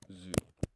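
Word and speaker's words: づ: So tsu becomes du. Pronounced zu. Oh, this is tricky. Tsu becomes zu in terms of pronunciation.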